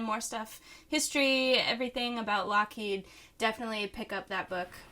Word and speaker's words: Loughead: back um alan haynes lockheed which is spelled l-o-u-g-h-e-a-d kind of like loud kid he was born in